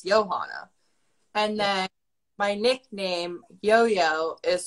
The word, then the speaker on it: Jojo: well actually it's johanna and then my nickname yo-yo is spelt j-o-j-o so that's why most people think it's pronounced